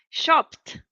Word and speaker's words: shopped: Shopped. Shopped. It's P-T.